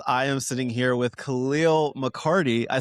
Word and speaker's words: Calial McCarty: My friends, I am sitting here with Calial McCarty.